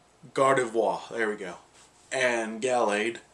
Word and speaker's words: Gardevoir: though well i knew god of war and gallagher both do well excuse me let me give it the correct pronunciation gardevoir there we go and